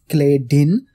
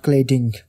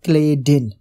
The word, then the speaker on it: Clayden: chemistry textbook written by clayton and co-authors it's clay din it's not cladding someone was hearing me uh that i'm saying it's creating but it's not cladding it's a mispronunciation or you might be hearing